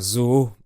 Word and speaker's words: zoo: In French, we say a zoo, by pronouncing the O “ZOO” twice.